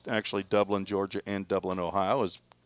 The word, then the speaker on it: Dublin: No, it's Dublin. Dublin, I believe, is how you pronounce that. It's Dublin when you go to Georgia, but it's Dublin. It's a north-south thing.